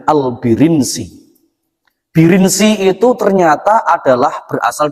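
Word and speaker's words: البرنسي: Ternyata bacanya itu bukan Al-Burunsi, bukan juga Al-Baronsi, tapi bacanya Al-Birinsi.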